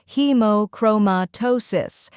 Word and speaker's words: hemochromatosis: The correct pronunciation is hemochromatosis. First part, hemo, sounds like he as in he and mo as in moment. Second part, chroma, emphasize chroma, like chrome with a slight sound at the end. Third part, tosis, like toe and sis, as in sister. When you put it all together, it's hemochromatosis. Let's practice together now.